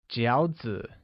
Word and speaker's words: 饺子: Lastly, dumplings translates as 饺子, which is pronounced with a falling rising tone.